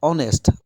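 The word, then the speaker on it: honest: ধরে আমি কব পারো অনেস্ট অনেস্ট যদি আপনি স্পেলিং চাই এইচ ও এন ই এস টি আগত কিন্তু এর ছেড়ে আরম্ভ হয়েছে কিন্তু উচ্চারণ তো অনেস্ট হইছে মানে উচ্চারণ লুকায়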